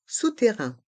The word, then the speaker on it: souterrain: un aller-retour le passage souterrain le passage sterrain dans le mot souterrain il y a deux sons le son ou et le son un les voyelles o et U font le son ou sous terrain et les